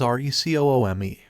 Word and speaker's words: Recoome: Because the name's Recoome. It rhymes with doom.